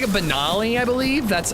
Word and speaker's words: Benelli: It's like a Benali. I believe that's it's based off of the Benali shotgun. Benelli. Benali. Benelli. Benoli. Am I pronouncing that wrong? That's so unlike me. Like Ellie, Benelli.